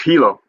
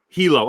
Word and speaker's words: Hilo: Am I pronouncing this right? And I know I'm not gonna. Is it Hilo? Oh, it's Hilo. Hilo.